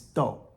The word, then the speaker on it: 逗: Here's another fourth tone do. Remember the bean character? If we put the walking radical first, and then do, it becomes do, which means to laugh, to amuse.